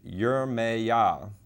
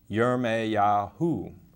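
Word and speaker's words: ירמיהו: it's strong's 3414 and it's pronounced in the english yeremeya or yereme yahu and it comes from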